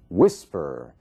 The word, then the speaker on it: whisper: Whisper. Whisper. Você vê que a força da palavra, a sílaba tônica, está na primeira parte.